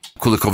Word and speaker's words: Kulikov: industrial business kulikov Industries kulikov Industries I like I like that you pronounce my surname in a genuine Ukrainian way because I'm so so tired of uh having my surname spelled with I kulikov Industries yeah kov